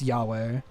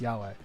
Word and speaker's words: Yahweh: It's pronounced Yahweh.